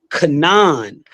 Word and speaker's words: Canaan: first syllable next slide when we pronounce Canaan we make CA the first syllable in the word Canaan yet the Jews did